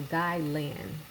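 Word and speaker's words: gai lan: salt and pepper oh i said it wrong it was it's g-a-i-l-a-n so guy land blonde gailan don't know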